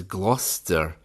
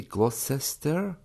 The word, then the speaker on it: Gloucester: Another one is Gloucester, Gloucester. Should that not be Gloucester?